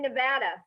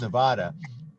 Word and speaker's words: Nevada: The rest of the country says Nevada. The locals say Nevada. Reno, Nevada.